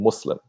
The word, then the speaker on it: Muslim: jihad yeah so it's just the way Americans pronounce things so when they say they're supposed to be saying Muslim yeah and so like here's them sometimes they'll